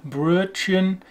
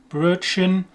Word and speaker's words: Brötchen: Most people would kind of, first of all, we don't have an U in English. There's no umlauts. We don't have this U sound. So that is definitely very difficult. An English person would get quite close to pronouncing this in that they would use the nearest sound would be the U, Brötchen, Brötchen. And instead of the CH sound, which is Brötchen, maybe the SH sound that we have, a SH.